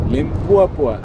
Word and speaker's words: Limpopo: As one young fellow said, that's how you're supposed to pronounce it. Limpopo.